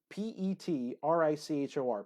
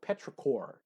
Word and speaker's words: petrichor: but it's called let me see I could spell it for you pe T Ric hor petrichor petrichor is what it is and so that